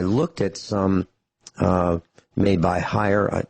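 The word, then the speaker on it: Haier: at some made by higher H a ier I think that's how it's pronounced I think that's how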